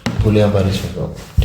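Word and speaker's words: Guillain-Barré syndrome: This is हाउ इट is pronounced, गुलियान-बारे सिंड्रोम। ठीक है, उसमें भी एयर रेफ्लेक्सिया मिलता है, कार्डिनल फीचर, असेंडिंग पैरालिसिस मिलता है गुलियान-बारे सिंड्रोम में।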